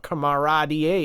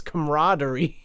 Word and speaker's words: camaraderie: And it's not camarad, it's camaraderie.